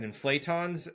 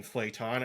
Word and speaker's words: inflaton: thing y just no just like inflation except no I between the T and the O but there is I'm